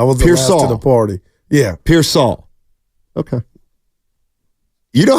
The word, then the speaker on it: Pearsall: should be pronounced and if it's Pier Saul then it's Pier Saul